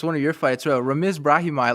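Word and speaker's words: Ramiz Brahimaj: Like I saw his name, I was like, hey man, like how do you say that thing? Like, yeah, you nailed it though, yeah. Ramesh Brahmi. That's it. You got it.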